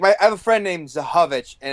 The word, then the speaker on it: Zychowicz: Is there a big like you get like weird, like I have a friend named Zahovich, and it's spelled like ZYCHOWICZ.